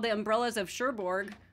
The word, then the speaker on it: Cherbourg: It's called The Umbrellas of Cherbourg, or however you say that. I'm not quite sure. What do you say over there? Cherbourg, you said it right.